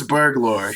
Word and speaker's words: Burglor: Like burgle and lore as a one word. I don't know how you would do that, but like it's like Burglor.